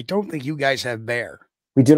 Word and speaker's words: Bexar: think you guys have bear we do not have Bears even though you're pronounced Bear County yeah um how about